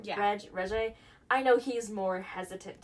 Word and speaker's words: Regé: Regé.